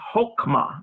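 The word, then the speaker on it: חכמה: that's called kametz hatuf, and so it's hokmah, not hakmah. But it very well may be pronounced hakmah in Aramaic.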